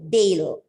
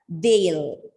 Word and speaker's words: they'll: Again, it is a contraction of they plus will, Dale. Okay, and it has to be pronounced as Dale.